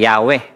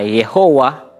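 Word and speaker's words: Yahweh: nag-aaral talaga ng lenggwahe ang tamang pronunciation nito Ay yahwe meron namang iba na yehova o kaya naman ay yahova pero ah ang pinakamalapit based sa akin pong mga nabasa Ay yahwe ano po pero yung pinaka definite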